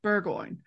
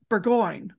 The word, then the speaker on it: Burgoyne: do you say burgo I say burgoin that's how I say it burgo and other people who say bergo and I tomato tomato I guess